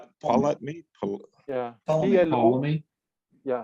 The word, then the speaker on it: Ptolemy: Well- I think something happened back in Aristotle's day with what is it, Ptolemy?